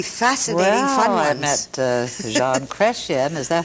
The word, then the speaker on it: Jean Chrétien: I met Jean Chrétien, is that how you pronounce it? Jean Chrétien, yes.